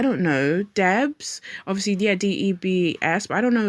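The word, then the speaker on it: D.E.B.S.: D E B S but I don't know is it I think it's pronounced Debs actually.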